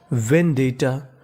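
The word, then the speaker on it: vendetta: डी E double T ए आपको गौर करना है कि यहां पे टी दो बार लिखा है। हमें खाली उच्चारण एक बार करना है। यानी कहने का मतलब टी दो बार है। पढ़ना खाली एक बार है।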